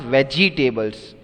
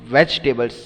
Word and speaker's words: vegetables: see this is not vegtables many of you pronounce it very badly vegtables No so if you are pronouncing it it is wrong it's vegetables second e is silent so anyways pronunciation is